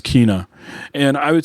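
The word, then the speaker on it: Kena: did buy that uh kinah uh bridge of spirits i think yeah eric and i think i've been mispronouncing it and so it's like tino with the k kina okay i heard other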